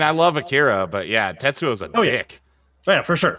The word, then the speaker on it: Tetsuo: know like akira oh he just said the name wrong tetsuo yeah yeah okay yeah